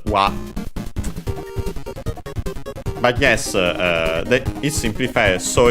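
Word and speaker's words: は: from the topic particle, still written ha, but pronounced as wa.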